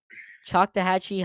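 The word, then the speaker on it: Choctawhatchee: you got to tell me cuz I cannot pronounce it as chak toachi ch toachi ch toachi okay chak toachi High School in Fort Walton Beach Florida you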